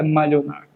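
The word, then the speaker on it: Malinois: cachorro milionar se serve malones porque é alemão mas a pronúncia só é malh onar e aprendia com D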